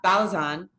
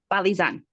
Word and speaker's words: Balizan: Did I say your last name correctly? Is that Close correct? enough. Close enough. Say it really quick. I want to make sure we say it correctly. Balizan. Balizan. Okay, Dr.